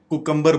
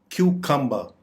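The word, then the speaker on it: cucumber: इसका मतलब है खीरा इसको हम आमतौर पर कुकुंबर बोलते हैं जो कि गलत है इसकी दुरुस्त प्रोनंसिएशन है ककं क्यू कंबर क्यू कंबर चॉकलेट चॉकलेट चॉकलेट इस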